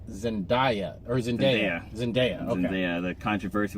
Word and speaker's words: Zendaya: Oh, and we got to talk about I want to pronounce it right. I think it's Zendaya.